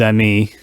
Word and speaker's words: amis: So the S is not pronounced. It is written, but not pronounced.